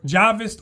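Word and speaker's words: Jahwist: And it's Javis because this is how the Germans pronounce it and they were the ones who made this discovery.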